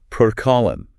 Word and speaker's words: protokollon: It comes from the Greek word protokollon. I will spell that out phonetically. It is proto-K-O-L-on.